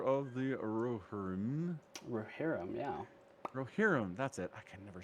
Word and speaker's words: Rohirrim: Rohirrim, that's it.